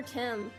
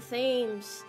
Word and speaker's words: Thames: The River Thames. The Thames. It sounds like I thought it does. What is that stupid pronunciation, bro?